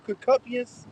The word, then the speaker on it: concupiscence: Evil concupiscence.